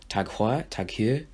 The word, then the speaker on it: TAG Heuer: Tag Heuer.